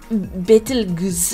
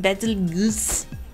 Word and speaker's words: Betelgeuse: Looks like Betelgeuse, I'm just gonna say it different every time, can be pronounced in any combination with bet, like the word bet or beat, and goose as in juice or Jews.